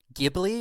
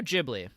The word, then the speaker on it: Ghibli: Is it Ghibli or Ghibli? And I'm still not sure. I think it's Studio Ghibli. Ghibli. Yeah. Okay. Well, as in like the giblets.